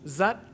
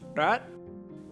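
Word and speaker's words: rất: In the north, it's pronounced zat, while in the south, it's pronounced rat.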